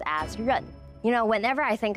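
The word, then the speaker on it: 刃: th and the men character for plate is pronounced Asun you know whenever I think about adding a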